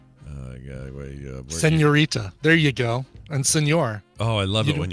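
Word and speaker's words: señor: And senor. Oh, I love it when you call me senor. You don't pronounce it senor. Hey, senor. Senor.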